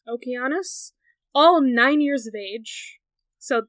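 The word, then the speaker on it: Okeanos: have 60 Daughters of well it's spelled with a K but it's usually Oceanus but I guess this is okus all years of age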